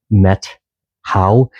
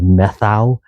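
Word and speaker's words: Methow: And then Metau is uh pronounced Metau instead of methau or metho. Um and that's in northern Washington near um Mazama is um is the Metau River and the Metau Wilderness.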